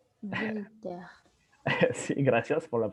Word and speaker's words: Voltaire: Voltaire. Voltaire. Sí, gracias por la pronunciación.